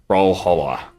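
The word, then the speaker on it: Brawlhalla: 15,000 concurrent now Braha I don't even know how to pronounce that bralla bralla oh right like Valhalla like Valhalla yeah I was thinking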